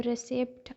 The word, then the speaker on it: receipt: For example, there is a word receipt, तो receipt RECEIPT है, but because कुछ alphabets because that are silent, तो बहुत सारे लोगों को नहीं पता होता है, and they produces the sound as a receipt or whatever, so it is basically receipt.